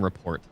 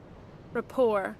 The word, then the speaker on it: rapport: People make fun of me for saying report. Rapport.